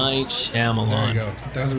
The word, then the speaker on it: Shyamalan: I can never pronounce it. M. Night Shyamalan.